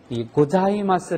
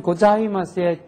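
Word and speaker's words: ございます: 사 이렇게 발음이 벌어지는데 자 발음은 혓바닥이 위 붙어야지 됩니다 사가 아니고 자 해서 혀가 붙었다가 떨어지는데 자 발음을 하는 발음하고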